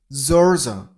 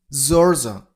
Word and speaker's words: Georgia: Georgia, Georgia. Stress on the first syllable.